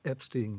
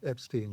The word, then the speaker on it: Epstein: Well, he said Epstein himself. Who, Brian did? He insisted on Epstein, yeah.